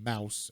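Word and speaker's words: Maus: um so that's why it's called mouse and it's spelled mouse like german m-a-u-s and so uh so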